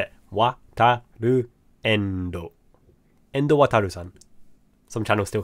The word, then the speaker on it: Wataru Endo: That's how you say it, Wataru Endo.